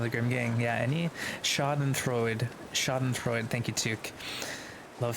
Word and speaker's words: Schadenfreude: Just FYI, at the end of the German words is actually pronounced, so it would be Schadenfreude.